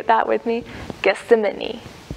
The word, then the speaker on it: Gethsemane: Gethsemane. Gethsemane. I'm probably saying it wrong. It's kind of like that word, see an enemy.